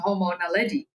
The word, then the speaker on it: Homo naledi: Because I made a video on Homo naledi and I pronounced it as Homo naledi.